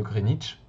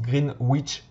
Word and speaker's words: Greenwich: Ben là, il s'agit de l'observatoire de Greenwich. Parfois, les gens qui ne connaissent pas prononcent Greenwich, mais en fait, les Londoniens disent Greenwich.